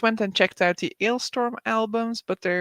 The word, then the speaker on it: Alestorm: pirate pirate metal alestorm so I guess we'll pronounce it alestorm as they and they did a